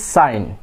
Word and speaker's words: sign: এখানে কি জি সাইলেন্ট, সাইন, it will be sign.